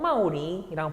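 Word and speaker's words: 茂陵: 이 무덤을 뭐라고 하냐면은 무지에서 이름을 땄다고 말할 수 있는데 무릉이라고 합니다. 중국 발음으로 마오링이라고 부르는 데고요.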